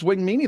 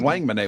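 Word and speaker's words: Wangmene: alexis wang monae yeah alexi wang mini it's wing mini that's how you say it we always said wang monet when he was i'm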